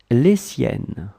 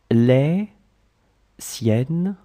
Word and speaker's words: les siennes: His, hers, les siennes, les siennes, les siennes.